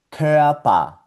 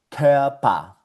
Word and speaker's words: Körper: Y esto se pronuncia Körper, Körper.